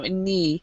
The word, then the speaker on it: knee: Abdullah KN okay so in this word the K is silent so Bas so all the words here that are mispronounced because a word is silent so the K is silent here so knee and what uh what